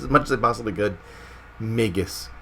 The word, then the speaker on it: Magus: as i possibly could magus is the way to say it so i'm training myself that's why i'm saying it so much i'm actually training myself how to say it properly because i was all over the place with it migus megan's